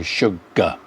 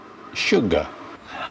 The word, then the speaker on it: sugar: In British English we don't, we just go sugar, sugar.